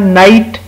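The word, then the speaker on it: night: इसी तरह नाइट, नाइट आप देखें इसमें जी एच की साउंड नहीं आ रही, नाइट।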